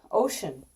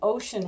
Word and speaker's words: ocean: Ocean. O-C-E-A-N. Ocean has a wonky E-A. Not ocean. Ocean.